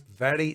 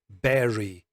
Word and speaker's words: very: The letter V and B, we pronounce these very differently. Notice I say very differently and not berry differently. Berry, well, that's a fruit.